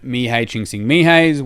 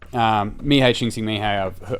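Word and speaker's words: Mihály Csíkszentmihályi: So this is looking at Mihei Csikszentmihalyi's work on flow. For those watching online, that's this book here is an example of his work, but he's done extensive work. And so Mihei Csikszentmihalyi, I've had to YouTube his name multiple times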